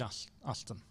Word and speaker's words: Aston: We do have an Ashton here who's done very well this tournament, but this is Aston. Aston.